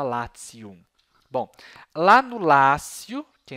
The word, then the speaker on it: Latium: escreve em português Lácio em latim se escreve latium né mas se fala latium bom lá no Lácio